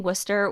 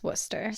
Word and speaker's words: Worcester: everyone comes at me this is spell like Worcester like in Mass okay and it looks visually like Worchester I don't know how it's pronounced but in Mass we say Worcester it's Worcester it has to be I don't it's